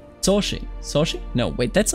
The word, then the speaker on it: Saoirse: Soshi. Soshi? No, wait, that's not what she says. Wait a minute, what? And how not to pronounce Saoirse Ronan's name. Saoirse.